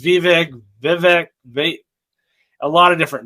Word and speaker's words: Vivek: name everybody says viveg Vivek they a lot of different names but he finally came out and really tried to help us so what he said is it's V and it rhymes with cake well I think it